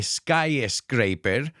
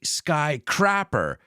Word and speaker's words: skyscraper: It's not a skyscraper, it's skyscraper. Skyscraper. And don't say skycrapper, cagador de cielos, like my friend Damian says. It's skyscraper, coming from the verb to scrape, which is similar to scratch.